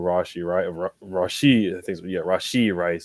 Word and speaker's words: Rashee Rice: You saw Pat Mahomes going back and forth with Rashee Rice is how you pronounce it.